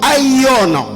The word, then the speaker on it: Aion: le troisième type de temps, c'est le temps Aion. Aion, c'est un nom grec qui s'écrit comme A-I-O-N, O apostrophe.